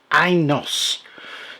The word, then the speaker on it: Inos: This is in an Inos, that's how you pronounce it, by the Fifth Wheel Company.